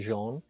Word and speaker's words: Jean: is French so it's spelled j e a an but it's actually Jean and my but my